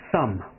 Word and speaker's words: thumb: 不叫 big finger, 这可不叫大拇指，不叫 big finger, 叫做 thumb, 咬舌 thumb, B doesn't pronounce, B 没有发音 thumb, index finger.